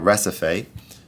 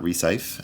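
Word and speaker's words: Recife: pick this one uh recipe not resafe as I mispronounced it in an earlier video actually you should also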